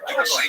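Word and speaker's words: Dulce: place there, near the small town of Dulcie, pronounced Dulcie, New Mexico.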